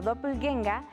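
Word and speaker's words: Doppelgänger: palabras para todo un doppel ganger que se pronuncia como dople genga es un doble maligno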